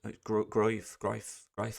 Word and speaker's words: Gruev: Gruev, Ali Gruev, Ilya, Groif, I believe. But that's the right pronunciation.